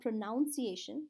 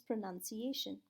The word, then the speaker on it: pronunciation: that people don't pronounce correctly is pronunciation it's not pronunciation but it's pronunciation last but not least is fluency are you